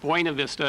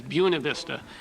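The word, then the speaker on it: Buena Vista: called U buav Vista and everybody there referred to it as buav Vista and that and if we heard anybody referring to it as buav Vista we knew they were from out of town ah probably from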